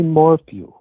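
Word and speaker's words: Morphew: It's It's morph. M O R P H E W. Wait. Right. It's not M O R. It's not F. FW. No, it's Morphw.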